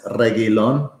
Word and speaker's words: Reguilón: It's Reguilón. Yeah, this is the show where we always get the pronunciation right, unless Reguilón.